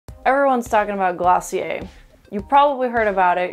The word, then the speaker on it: Glossier: Don't worry, we've demystified it, Glossier.